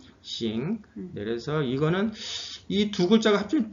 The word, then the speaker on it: 行: 어떻게 발음하죠? 싱.